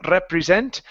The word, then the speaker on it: represent: Watch that R instead of represent. Okay. Excavations represent. Excavations represent. Represent. Okay. Almost. So here you're saying represent. Okay. You're moving into a sound.